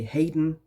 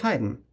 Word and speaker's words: Haydn: German Joseph Haydn - or maybe English speakers say Hayden, I'm not pretty sure; in German it's Joseph Haydn; so for that let's see what's up in Brussels!